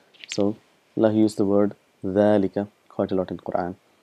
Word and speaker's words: ذلك: So Allah used the word ذلك quite a lot in Quran. So again just reminding you that it is pronounced as ذلك, but this alif is omitted because of constant usage and it's written as